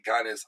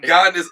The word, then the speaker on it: Giannis: So like the G is silent. The G is silent, and it's like a Y is there, or the IA.